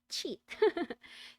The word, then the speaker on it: Scheat: na silent s sha h e a t cheat so this fixed star is not the best